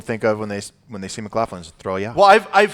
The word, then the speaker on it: McLaughlin: November 22nd, we've got Hobby Hangout with Brian McLaughlin.